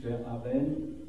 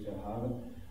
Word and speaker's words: Verhaeren: Emile Verhaeren, glaube ich, wird er in Frankreich ausgesprochen, oder Emile Verhaeren, ist ein noch, glaube ich, 27 Jahre älterer Vater, eine Vaterfigur für ihn.